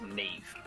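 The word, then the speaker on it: Niamh: of work whose name is n-i-m-h and it's pronounced nev yeah uh it's insane dude like i love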